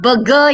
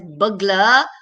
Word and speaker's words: burglar: All right, burglar is not burger, yeah? Burger is the one that you eat, right? But burglar is pronounced as burglar. It's not a burger, right?